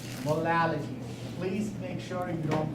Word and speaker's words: molality: One is called molarity, the other is called molality.